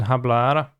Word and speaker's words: hablar: that's the deck then i don't pronounce the h in hablar yeah which is why